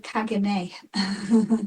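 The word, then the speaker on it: caganer: A kaga. A kaja. Oh, kagane.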